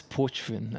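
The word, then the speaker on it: Pochven: So it's Porchvin, as it is short for Porchvinisva. Porch, like almost like porch without the R.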